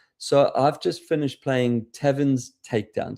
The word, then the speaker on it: Tavrn: So I've just finished playing Tavrn's Takedown. So Tavrn, as in the place where you drink, but it's spelled Tavrn.